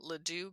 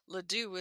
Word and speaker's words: Ladew: So not too far from Ladue Gardens.